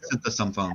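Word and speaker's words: Konerak Sinthasomphone: A teenager named Konarak Synthesomphone. Am I saying that right? Synthesomphone.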